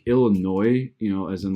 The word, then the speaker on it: Illinois: people that aren't from Illinois pronounced the s in Illinois it's crazy like my dad